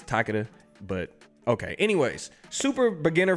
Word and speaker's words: Takeda: Moving on to Takeda, however you want to pronounce it. I think it's Takeda, but okay.